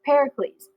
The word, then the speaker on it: Pericles: they have their leader Pericles we like I like to say that Pericles is like Hercules because it rhymes then you can remember